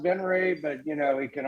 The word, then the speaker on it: Venrez: to dude it's all you absolutely it's it's pronounced benray but you know it can also be benrez so what you want to do is go